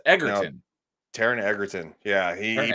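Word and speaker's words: Egerton: Yeah, it's as far as I understand it's a hard G. Oh, I thought it was Edertton, but it's Eggertton.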